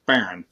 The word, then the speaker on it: Faryion: And of course, we pronounce his name as Faryion.